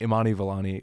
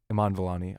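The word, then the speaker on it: Iman Vellani: the villain was bad imanii valani was Iman valani I always get her name wrong she's amazing everything with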